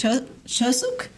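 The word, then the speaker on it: Chuseok: It's Chosuk.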